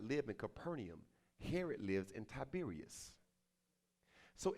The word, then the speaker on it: Capernaum: Capernaum. Kafer Nahum, if I say it like I was, Hebrew.